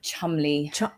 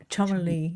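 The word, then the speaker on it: Cholmondeley: The Chumley. Chumley.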